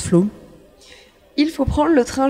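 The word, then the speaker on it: Flåm: oslo la capitale à flamme se prononcent flou il faut prendre le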